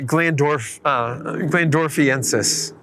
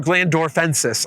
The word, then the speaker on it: glandorfensis: So, are the Glandorfensis. or Glandorfensis, I should spit. Got an extra syllable in there. Don't need to add that there.